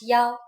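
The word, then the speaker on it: 幺: it's time for universities when we talk about numbers like telephone numbers past numbers and so on we pronounce one as Yao for example but that's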